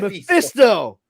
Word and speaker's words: Mephisto: You know you're saying it wrong, dude. It's Mephisto. Mephisto. Sounds like Mario is saying it in an N64 game.